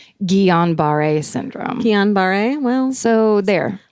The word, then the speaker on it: Guillain-Barré: Oh, here's how you pronounce it. Syndrome. Guillain-Barré syndrome. Guillain-Barré syndrome.